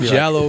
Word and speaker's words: giallo: No, you said giallo perfectly, actually, even for an English speaking American.